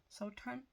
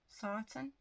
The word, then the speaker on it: Sarton: Um, and then this one's a book, Journal of Solitude by Mary, not Mary, May Son, Sultan, Sarton, that's how you say it.